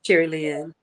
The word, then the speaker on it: Sherilyn: Is it Sherilyn? I'm saying it right, Sherilyn? Yeah, Sherilyn. Maybe hit using, but taking was not using.